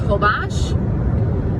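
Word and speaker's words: Holbox: like full box hol vo X but it's pronounced ho Bosch and it's awesome like there's no cars there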